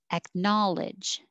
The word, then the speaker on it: acknowledge: the airflow at knowledge going from the k to the n without saying ek knowledge so no k sound just acknowledge acknowledge rendezvous rendezvous schadenfreude schadenfreude